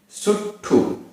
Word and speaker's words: सुट्ठु: सुट्ठु, सुट्ठु आधा ट ठ छोटे उ की मात्रा, सुट्ठु।